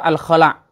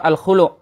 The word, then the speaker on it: Al-Khulu': Yang benar adalah surah Al-Khala' atau surah Al-Khulu', diambil dari lafaz nakhla'u.